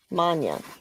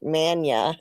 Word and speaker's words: Manya: Is it pronounced Manya? Yes. Manya. Okay. I didn't butcher it with some American like Mania or something.